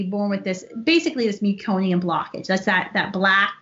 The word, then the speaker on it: meconium: child can be born with how do you pronounce that it's meconium thank you very married it was like all